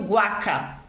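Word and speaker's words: huaca: u a c a h u a Olha lá a sílaba eles pronunciam Guaca Guaca oaka é uma tumba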